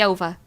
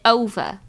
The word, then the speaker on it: OVA: Um, OVA, that's how you say it. See, I've always just said over and I know somebody corrected me, one of you actually corrected me on that.